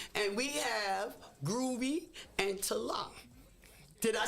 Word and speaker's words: Tala: And we have Groovy and Tala. Did I say it right? Tala, but that was good.